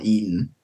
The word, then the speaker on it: Eton: London, or posh school in London is called Eton.